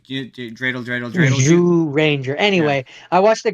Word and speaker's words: Zyuranger: Morphin, the ZU Ranger, Yeah, ZU Ranger, it's pronounced Jew Ranger, like Zhu yeah, Ranger. like Jew, like dreidel, dreidel, dreidel Jew. Zhu Ranger.